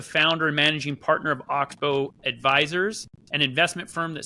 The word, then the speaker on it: Oxbow: Am I pronouncing that correctly? Is it Oxbow?